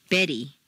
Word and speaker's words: Betty: in Ted or Italian a te in the middle of a staircase is pronounced as D Betty Italy whereas a t